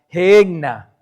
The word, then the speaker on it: Gehenna: En el griego original en que se escribió el Nuevo Testamento, se escribe y se pronuncia Gehenna.